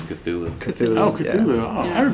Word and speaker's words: Cthulhu: I don't know how you pronounce it. I say Cthulhu. It's Cthulhu.